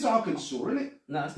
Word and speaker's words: Arkansas: does that say AR Aransas no arkans arkans it's Arkansas is it no that's